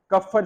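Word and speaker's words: Kupffer: called as कफर cells इसमें P silent होता है कफर सेल्स बोलते हैं इनको सो अगर आपसे आज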